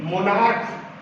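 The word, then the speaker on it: monarch: देखिए यहां पे भी मोनार्क क वर्ण का उच्चारण हो रहा है,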